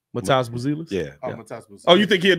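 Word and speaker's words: Matas Buzelis: Matas Bozilis.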